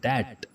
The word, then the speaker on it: debt: इसको हम प्रोनाउंस करेंगे बी के बगैर, इसमें बी साइलेंट है तो वर्ड होगा डेट, डेट।